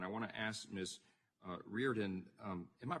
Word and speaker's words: Riordan: Riordan, am I pronouncing that right? What's the right pronunciation? Thank you. It's Riordan.